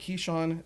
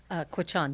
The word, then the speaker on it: Quechan: Taylor's ancestry, now we got it here, is part Keeshon, Czechoslovakian, Austrian, and German, correct? Quechan, yes.